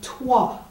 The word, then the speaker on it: toi: Regardez le mot « toi ». Le O et le I est prononcé comme un W en anglais. Wa. Wa. Toi.